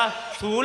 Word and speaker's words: ศูนย์: บ่ ตก เด้ นั่น ศูนย์ มัน ก็ เขียน บ่ ย่าน ศูนย์ เนาะ จิ๋ว เขียน แบบ นี้ หอ หีบ สระ อี อ่าน ว่า สูน แล้ว ก็ 4